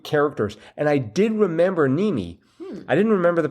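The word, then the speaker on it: Mneme: Mimi? No. Nimi. The M is silent, like as a mnemonic.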